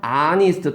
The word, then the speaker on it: honest: Our honest 다 H가 발음이 안 나잖아요.